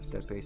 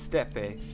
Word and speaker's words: steppe: It's steppe, not step. I mean, what's with the E if it's not steppe?